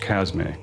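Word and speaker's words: Chasme: By the way, Casme in Arabic means plague or pestilence, and is properly pronounced Casme.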